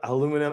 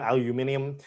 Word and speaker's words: aluminium: I believe that that word is pronounced differently depending on what country and what region of that country that you're from. I mean, that is technically true. aluminum aluminium, but um I'm not